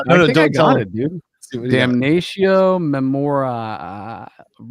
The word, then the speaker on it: Damnatio Memoriae: I want you to pronounce the name of this. It's Damnation. No, don't tell it, dude. Damnatio Memoriae.